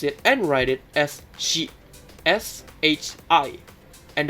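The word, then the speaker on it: し: You pronounce it and write it as shi, S-H-I. And the pronunciation is just like she in English, like she is a girl, like that.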